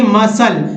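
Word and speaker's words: muscle: फिर देखिए मसल, ये सी नहीं पढ़ना है, मसल मीन्स मांसपेशी, मसल मीन्स क्या होगा, मांसपेशी।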